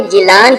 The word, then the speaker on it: گیلان: ساحل پر واقع ہے۔ گیلان کا تلفظ اہل عرب نے جیلان کیا ہے، اسی نسبت سے آپ رحمتullah علیہ جیلانی مشہور ہوئے۔ شیخ عبد القادر جیلانی